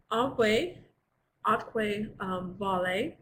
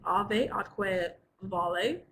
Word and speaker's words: ave atque vale: We're going to start today with our Latin saying, which is alve atque vale, or in classical Latin, alve atque vale. Because in classical Latin, the V's are pronounced like W's.